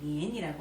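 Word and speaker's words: 年: 니엔이 우리나라 해년자를 말하는데 중국 발음으로 니엔이라고 합니다. 예.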